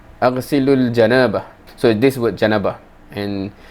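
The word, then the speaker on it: جنابة: This is the hadith that I'm thinking he's referring to, and this word janabah, right? Aghsilul janabah.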